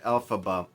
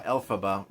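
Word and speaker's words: Elphaba: Uh Alphaba, which of course it kind of rhymes with alphab alphabet, not rhymes, but you know, a little bit like it.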